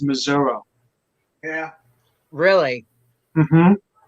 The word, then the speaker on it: Missouri: Louis, anywhere else in Missouri, it's pronounced Missouri.